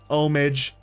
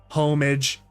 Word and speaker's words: homage: too I'd believe that omage homage homage who who the heck cares right I don't care I like to say homage even though if it is pronounced homage that's whatever I like saying homage you know tomato tomato silent or not silent is